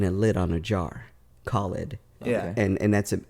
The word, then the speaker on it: Khalid: Yemen yeah and um my first name is Khalid it's spelled k-h-a-l-i-d and I used to wear use